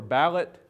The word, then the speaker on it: ballad: The tradition of ballad singing or ballot singing, as it was sometimes pronounced in the Ozarks, goes way back beyond any notion of an Ozarks, certainly.